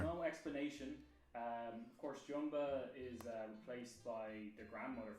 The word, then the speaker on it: Jumba: He is a central antagonist from the first movie because Jumba was Quickly, that's how you pronounce his name.